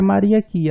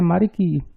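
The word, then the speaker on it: моряки: A pronúncia não é Mariaqui, a pronúncia é Mariqui, o plural de marinheiros.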